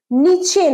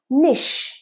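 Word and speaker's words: niche: নিচে নয়। উচ্চারণটা আরেকবার বল। নিশ new need find নিশ and make video.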